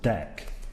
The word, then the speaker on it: deque: class that we haven't touched on it's called Dec and that's worth exploring so it's an acronym of double-ended queue which is why the strain spelling but it's pronounced Dec and my Internet's being a bit slow here